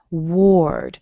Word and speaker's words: Ward: Words that have a W-A-R in them don't have an A sound. They actually have more of that O that you see in the second version of Paul.